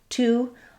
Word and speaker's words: to: When it's by itself or when it's stressed, it has the oo vowel spelled with letter O.